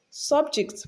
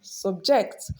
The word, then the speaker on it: subject: So when it functions as a noun, it is stressed on the first syllable usually. And when it is function as a verb, it is stressed on the second syllable usually.